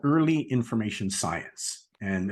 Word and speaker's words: Earley: It's called Early Information Science, and it's Early is spelled EARLEY. Don't forget the E before the Y.